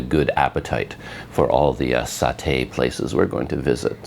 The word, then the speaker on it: satay: I think there's a British and an American pronunciation, like where the emphasis goes, satay or satay. I think satay is the British and satay is American.